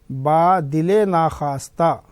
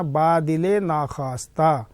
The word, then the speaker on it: با دل ناخواستہ: بوجھ۔ با دل ناخواستہ، یہ لفظ ذرا بچوں اچھی طرح سے یاد رکھنا، تلفظ اس کا صحیح کرنا۔ با دل ناخواستہ، نہ چاہتے ہوئے بھی یعنی مجبوری میں۔ عموماً لوگ کیا کرتے ہیں، اس کو پڑھنے میں غلطی کرتے ہیں، بادل ناخواستہ پڑھ دیتے ہیں، غلط ہے۔